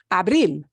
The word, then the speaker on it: Abril: last syllable Okay so we've got words like Abril Abril doesn't end in a vowel or NRS it ends in that so we punch the last syllable and we do I